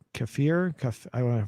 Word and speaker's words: kefir: i do drink um uh what's it called kefir cuff i want to pronounce it for a k-e-f-i-r it's like a